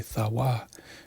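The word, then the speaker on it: תו: strong H 8420 which the correct Hebrew pronunciation would be thawa you know that is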